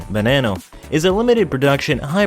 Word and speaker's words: Veneno: the lamborghini bonanno the lamborghini verano spanish pronunciation banano is a limited production